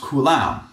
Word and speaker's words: coulomb: And I usually say coulomb, but it is also sometimes pronounced coulomb.